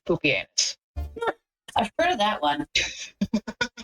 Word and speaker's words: Pupienus: But yeah, there's also a Roman emperor whose name is literally pronounced Pupienus.